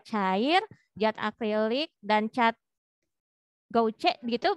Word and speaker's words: gouache: cat akrilik, dan cat gouache gitu bacanya, betul? Betul, betul ya. Oh, gimana bacanya? Gouache. Oh, gitu.